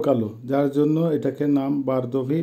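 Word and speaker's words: бордовый: বারদোভি, বারদোভির অর্থ হবে বারগান্দি, অর্থাৎ এটা লাল, দেখতে লালের মতো কিন্তু একটু কালো কালো, যার জন্য এটাকে নাম বারদোভি বা বারগান্দি, উচ্চারণ হবে বারদোভি।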